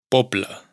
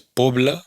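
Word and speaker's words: poble: Popla, pueblo, no es pobla, sino popla.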